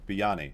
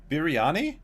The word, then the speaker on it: biryani: How do you say this though? Where's my pronunciation on thing? Biryani. Biryani. Really? Oh my goodness. I've been saying this wrong.